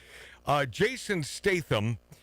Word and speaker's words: Jason Statham: Jason Statham. Is that how you pronounce his name?